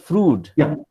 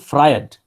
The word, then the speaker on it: Freud: the name sigmund freud it is not fruit it is sigmund freud yeah okay okay okay